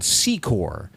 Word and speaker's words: Secor: And there's a different part of Ronoke that its own township and it's called Secore.